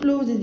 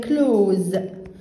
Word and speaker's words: clothes: hang up the clothes، وال THES محدش يقول clothes يا حبايب، هي كلوز كلها، كل الحتة دي هنطقها كأنها حرف الزاي.